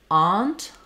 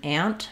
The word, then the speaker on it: aunt: the a vowel um some places East Coast um they tend to use more Aunt a so they use the a vowel there Aunt um so